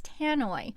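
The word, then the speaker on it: tannoy: the word is how how do you say it tanoi tanoy the word is tanoy which in layman's terms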